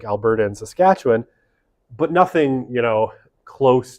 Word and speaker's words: Saskatchewan: of Canadian provinces is the highest right in Saskatchewan I've been there I know how to pronounce it um Saskatchewan right has relatively cheap housing by Canadian standards